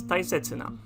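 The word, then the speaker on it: 大切な: for big followed by this character and it's pronounced as tai setsuna thai sets and it means important it's a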